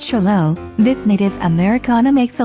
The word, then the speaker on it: Xolo: Also called the Zolo, pronounced Cholo, this native Americana makes a lively companion with an appealing and sociable personality.